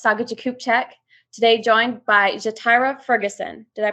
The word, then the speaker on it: Ja'Tyra: I'm your host, Saga Jakubchak, today joined by Ja'Tyra Ferguson. Did I pronounce that correctly? It's Ja'Tyra. You have it correct.